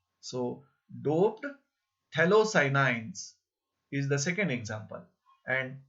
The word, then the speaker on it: phthalocyanine: P is silent here. So, doped phthalocyanines is the second example.